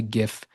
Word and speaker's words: GIF: I say GIF with a hard G.